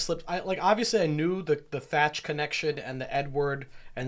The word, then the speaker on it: Teach: Also, the actual pirate from which Teach was quoted was known as Blackbeard, and he was called Edward Teach and pronounced Edward Thatch.